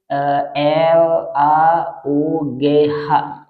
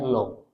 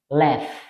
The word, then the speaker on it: laugh: Lalu kemudian L A U G H. Nah, log. Banyak orang yang membacanya log. Padahal bacaannya left. Sekali lagi, ini bacaannya adalah left. Bisa kalau kita menggunakan aksen British, maka dia akan dibaca laugh.